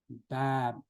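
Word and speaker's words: باب: So alif is an apple letter. So it is bab, apple. Okay. It's not bab, like in Urdu or like in English, like Bob.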